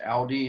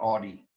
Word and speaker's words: Audi: If you know the car, the German car, the Audi is pronounced Audi and not Audi.